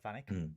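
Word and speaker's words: Vanik: uh vanck is it vanic vanck yeah vanck van I wrote it down as vanck because after the first time it gets pronounced it's like banck but then Archer from then on says vanck so I'm we normally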